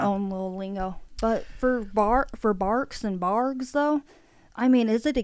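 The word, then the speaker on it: Barq's: It is spelled B-A-R-Q-S. So maybe just some people think it's a G by the way it looks on the can and they say Barks.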